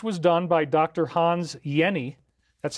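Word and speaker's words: Jenny: Hans Yenni. That's how you pronounce the name. Even though it's a J, it's pronounced Yenni.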